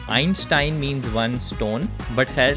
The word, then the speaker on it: Einstein: from albert einstein yes this is how you say his name in german einstein means one stone but